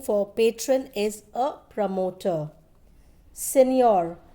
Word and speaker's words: signor: Signor, G is silent and it's an Italian word which means Mr.